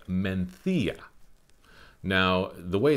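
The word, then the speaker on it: Mencía: the wine that i'm talking about is called menthia now the way it's spelt m-e-n-c-i-a makes you think it should be called mencia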